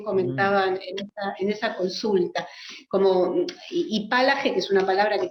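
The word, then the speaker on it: hipálage: Resonancias de la antigüedad, que tiene aparte materialmente algo muy atractivo, que es ese acento esdrújulo y la H muda y la fuerza de la G, ¿no?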